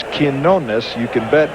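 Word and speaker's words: Quiñones: If Bob Shepard says it's Quinones, you can bet it's Quinones.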